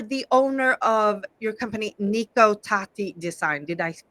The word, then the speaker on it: Nico Tati: so you are the owner of your company Niko tati design did I pronounce that correctly yes what is nikota design